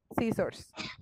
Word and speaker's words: scissors: La C no se pronuncia. O sea, pronúncialo como si fuera S. Scissor. Eso, sí. Esa C es muda. ¿Listo? Scissors.